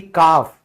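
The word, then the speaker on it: calf: बछड़ा यानी कि काफ। ठीक है? फिर इसमें भी क्या हुआ? एल से पहले ए लिखा हुआ है। इसीलिए एल साइलेंट हो गया।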